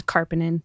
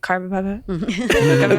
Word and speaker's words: Karpenin: If you just look do at it how it's spelled, but something about the INEN, everybody's like Carpapa.